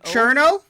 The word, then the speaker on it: Cirno: Cherno? I think that's how it's pronounced, I Cherno.